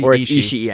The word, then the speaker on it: Ishii: is that pronounced correctly Satoshi Ishii Satoshi Ishii I think is what it is actually because there's two eyes just watching him move